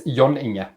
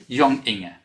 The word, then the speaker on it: John Inge: Or if you'd like to try the Norwegian one, it's Yoninga. Yonginga.